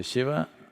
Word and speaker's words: Shiva: language is like that in Northern India most people speak Hindi language and uh the last syllable they'll cut it off if you say lingam they'll saying if you say Shiva they'll say shiv if